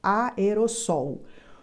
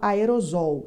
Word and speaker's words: aerossol: tetracampeão sempre sem- o cuidado com essa palavra aerosol é exatamente assim que pronuncia aerosol muita gente insiste em escrever essa palavra com apenas um s e fala aerosol está errado o som não é som de z é som de s que nem sol aerossol Essa